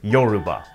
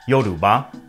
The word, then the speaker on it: Yorùbá: language, which is pronounced Yoruba, with a mid, low, and high tone.